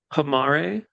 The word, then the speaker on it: Homare: Homare. I'm gonna say Homer because that's just easier for me. That's not how Japanese pronounce things.